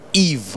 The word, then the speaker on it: Yves: I've been having an amazing conversation with Yves, Y-V-E-S. The S is silent, of course.